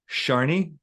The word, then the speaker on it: Shani: first name, which I just learned how to pronounce a few minutes ago. It's Sharni.